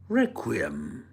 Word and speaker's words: requiem: Have a look at the listen to the pronunciation of the word reququum.